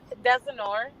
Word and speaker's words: Desinor: It's Desinor, but if you pronounce Desinor.